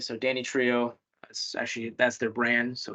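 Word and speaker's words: Danitrio: So Danny Trio, that's their brand.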